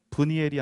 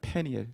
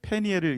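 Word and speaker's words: Peniel: 히브리식 발음으로 더 정확하게 발음하면 분이엘이 아니라 페니엘입니다. 페니엘. 페니엘을 이제 번역하면서 분이엘로 한 거예요.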